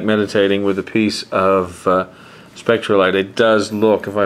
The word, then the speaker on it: Spectrolite: But I personally like Spectrolite better than Spectrolite.